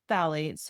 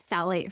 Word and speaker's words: phthalate: And then if it's a healthy version of a scent, it will say phthalate free. That's spelled weird. It's PTH.